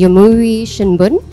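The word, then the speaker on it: Yomiuri Shimbun: Japan's largest daily newspapers, the Yomiuri Shinbun, hope I'm pronouncing that correctly. Yes, you are pronouncing and it correctly.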